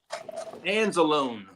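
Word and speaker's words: Anzalone: Now, there is no momentum towards an extension for Lions linebacker Alex Anzelone.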